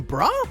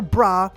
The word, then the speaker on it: Bra: Ball super but wait is her name bra or is it baola well in Japanese her name is spelled bua because the L Sound doesn't exist in Japanese however if you call her bra or bulah both are technically correct number 87 the grand